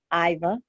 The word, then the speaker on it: Iva: Is it IVA or EVA? How do you say it? IVA.